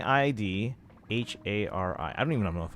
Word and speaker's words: Yidhari: It's spelled as Yidhari, but it's Idhari. So, just learn the name, Kaizen. Yid, like Yi Dhari, H A R I, and then just say like Idhari.